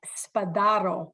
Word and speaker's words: Spadaro: Pete Spadaro.